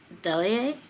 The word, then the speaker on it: Delahaye: Delahaye, I think is how you pronounce it.